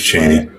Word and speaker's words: Chaney: I don't know if it's pronounced differently. It is Chaney.